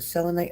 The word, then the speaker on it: selenite: of that Crystal uh is it selenite am I saying it right yeah that's it right selite yeah thought I